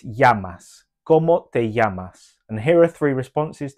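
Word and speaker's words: llamas: the Double L in yamas the Double L in Spanish is pronounced as a y so it's yasas and here are three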